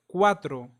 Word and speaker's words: cuatro: a o and u an example of this will be the word cuatro cuatro cuatro means for and notice how the letter c is followed by the bubble U that's why it sounds as cuatro as in cup another example is the